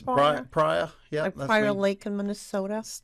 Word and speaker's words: Pryor: pronouncing your names correctly yeah yes prior yeah Fire Lake in